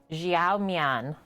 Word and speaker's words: Xiao Mian: So Chongqing Noodles, and then I looked up this morning the pronunciation for the actual Chinese words. Xiao Mian is what it is called.